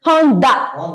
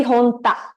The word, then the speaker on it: Honda: Honda also it is pronounced as DA only. Honda. Yes, da. Whereas in Tanaka, it's ta, right? Yeah. So here it's Honda, always da. It'll never be Honta.